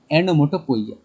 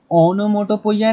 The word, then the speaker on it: onomatopoeia: Sir next हम आपका पढ़ते हैं सबसे इजी, एनोमोटोपोइया। ओनोमोटोपोइया नहीं बेटा, ओनोमाटोपोइया ऐसा कुछ नहीं, एनोमोटोपोइया। पहले प्रोनाउंसिएशन करेक्ट करो अपना, एनोमोटोपोइया, ठीक है।